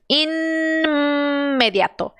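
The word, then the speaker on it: inmediato: que eu faço aqui eu tenho que pronunciar o n e o m junto sim aqui nada desaparece você tem que fazer os dois sons imediato e meia só que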